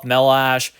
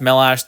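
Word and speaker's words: Chmelař: but it is pronounced melash there yaroslav melash it's a Czech Republic name or a Czech your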